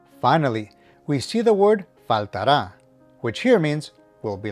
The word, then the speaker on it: faltará: Note that the emphasis is on the last syllable as indicated by the accent. So make sure that you don't pronounce this word faltara, but instead faltará.